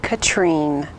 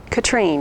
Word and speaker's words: Catherine: you something really quickly my name looks like catherine but it is pronounced katrine katrine i am so very